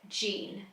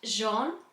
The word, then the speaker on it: Jean: Now, as I was reading this book, I was pronouncing it Jean. That's how I read it from a British point of view. However, I've since been informed that it's actually pronounced the French way, which I think is pronounced Jean.